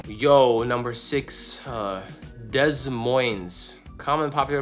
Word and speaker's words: Des Moines: yo number six uh Des Moines common popular pronunciation oh it's French duh so it's a Des